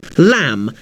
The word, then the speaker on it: lamb: For example, the letter B is a fairly common silent letter. Think of the words comb, lamb, climb. The B is silent, but you'll notice that the letter M comes before the silent B.